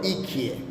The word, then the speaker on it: iki: Na namba moja kwa kituruki hutamkwa bir bir na namba mbili utamkwa ikie.